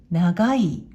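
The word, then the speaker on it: 長い: 訓読みで長い、長いと読みます。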